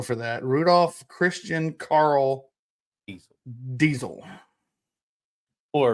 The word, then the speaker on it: Diesel: Rudolph Christian Carl Diesel. Or if you want to say it correctly, it'd be Diesel in German.